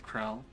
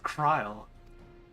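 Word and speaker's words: Krile: Quite right, Krell. Krell. Kryle. Why do I keep getting their name wrong? It's Kryle.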